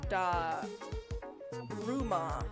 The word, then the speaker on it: Daruma: Da ruma.